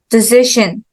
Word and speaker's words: decision: the same invitation invite decision decision here okay so decide second syllable and then student student